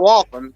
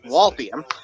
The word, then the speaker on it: Waltham: you're saying it wrong it's not welcome it's waltium but there's no eye there's no goddamn eyes you know so yeah I